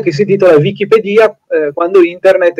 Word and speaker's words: Wikipedia: che culturale Allora allora la pronuncia esatta è oggettivamente Wikipedia Perché il termine Wiki È un termine hawaiano che quindi non ha nulla di inglese ed è utilizzato per vuol dire veloce rapido vick i vick Wick